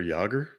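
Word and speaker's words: Jágr: is with intelligence for good uh um yir yogger wow we have a famous hockey player I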